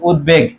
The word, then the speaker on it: উদ্বেগ: ফলার উচ্চারণ বহাল আছে ওই যে মাঝে যদি থাকে তার উচ্চারণটা কি থাকবে বহাল থাকবে তাহলে এর উচ্চারণটা কি হবে বলতো উদ তারপর কি হবে বেগ হবে উদ্বেগ তারপর দেখো সভ্য আছে